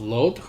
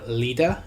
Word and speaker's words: Lod: Now, this is named after the type site of Lod, or Lida is another way it's pronounced.